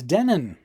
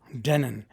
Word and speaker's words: Denon: Okay, so the internet tells me it's Denin, which is fine with me. I'll pronounce it however they want me to pronounce it. Denin.